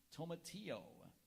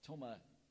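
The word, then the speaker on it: tomatillo: vitamins A and C tomao are there any alternate pronunciations there's Tomo Tomo t m a t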